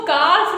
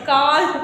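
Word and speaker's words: calf: हो किसी चीज को जानने का अब इसको काफ नहीं पढ़ोगे सी ए एल एफ चलो मैम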